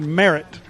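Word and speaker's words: Maret: to be Merit Walter Merritt is the pronunciation that the public address announcer uses m-a-r-e-t Seth Pierce the Bruins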